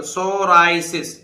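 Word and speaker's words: psoriasis: है अब देखिए पढ़िए पी के बाद एस आ रहा है पी नहीं बोलेगा तो सोराइसिस सोराइसिस सोराइसिस सो राय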